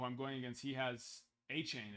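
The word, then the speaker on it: Achane: going against he has a chain is how you pronounce it right achain achain St Brown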